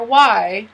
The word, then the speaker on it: why: So for why, we don't pronounce the H.